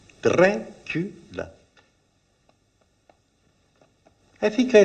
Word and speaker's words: Dracula: 3 syllables. Dracula.